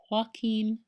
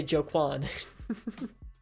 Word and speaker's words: Joaquin: it's rocky in Phoenix Joaquin how do you pronounce his name it's Joaquin right jakku Koo penis Joaquin Phoenix it is Joaquin okay I was right so Hawkin Phoenix and Leonardo DiCaprio I always mess up